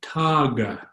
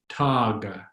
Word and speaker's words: taga: The G in Tagalog is just like an English G, that hard G sound as in egg. So the word on the far right is taga. Remember your open ah sound, and then that typical G, taga, taga.